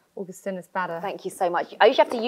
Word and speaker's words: Augustinus Bader: Augustinus Bader.